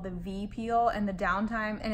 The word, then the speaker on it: Vi Peel: the peel that I got is called the V peel and the downtime and it's spelled like VI but downtime is like five